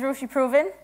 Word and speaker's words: Roisi Proven: mic packs so hello my name is Russia proven that's how that's pronounced I am head of